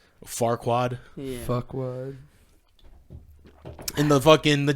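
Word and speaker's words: Farquaad: guy's name is Lord Fuckwad. Yeah. But it's pronounced Forquad. Farquad.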